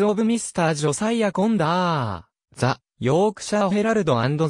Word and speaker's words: Conder: は暁ええええコンドルはオランダ風の読み方でコンダーの方が英語に近い著書増加必携に